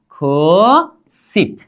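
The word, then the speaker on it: 구십: अब इसका उच्चारण क्या करेंगे सिप, क्या खो सिप, क्या करेंगे खू सिप, क्या खू सिप।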